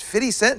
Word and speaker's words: 50 Cent: It's pronounced 50 cents.